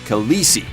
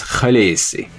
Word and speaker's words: Khaleesi: Daenerys' title is actually not pronounced Khaleesi.